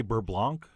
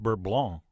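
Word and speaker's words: beurre blanc: by the way you keep hearing me say bert blanc but i believe in french it's correctly pronounced burb blanc which is exactly why i use the americanized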